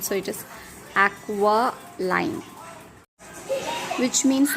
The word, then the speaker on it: aquiline: If I read this word, I will read it as aquiline. But E sound is pronounced as a sound, so it is aqualine, which means like an eagle.